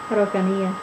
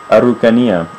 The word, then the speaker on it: Araucanía: Araucanía. Araucanía.